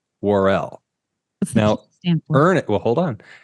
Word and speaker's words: Worrell: Ernest pronounces it Worrell, but Mr. Story, who is an actual news anchor, by the way, not his birth name, we'll get to that later. He says Worrell.